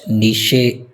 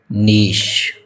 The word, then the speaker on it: niche: It is not niche, it is niche.